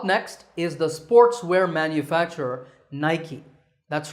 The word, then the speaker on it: Nike: is the sportswear manufacturer Nike that's right it's not naik there are two syllables night and key in fact the company's